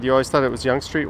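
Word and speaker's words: Yonge Street: I've even heard some actual urbanist YouTubers mispronounce Young Street. Like geez, spend two seconds researching what you're talking about. I've heard Yangi Street, Yong Street.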